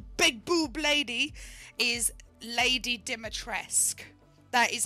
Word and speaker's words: Dimitrescu: at work so i know romanian names um di matresque is actually how it's pronounced so big tall big boob lady is lady dimitressk that is how dimitresque is pronounced a lot of people are saying dimitrescu i've i've been saying dimatrescu because that's what